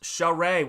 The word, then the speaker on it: Charest: Oh, it's pronounced Charest.